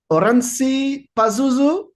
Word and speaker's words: Oranssi Pazuzu: tonight I'm with Yun his from the band oransi Pazuzu is it correct yep pronunciated welcome to uh welcome to another dimension